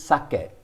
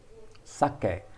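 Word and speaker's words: 鮭: daikon and this is sake sake pronounced like the japanese wine but it simply means salmon this is looks like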